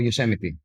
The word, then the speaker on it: Yosemite: It is fascinating that no one helped for these phenomena to built, for example Yosemite dome, Did I say it correctly?